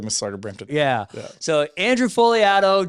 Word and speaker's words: Fogliato: So Andrew Fogliato, G is silent, by the way, Just Sell Homes, and now REM.